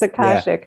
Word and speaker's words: Akashic: Yes, Akashic.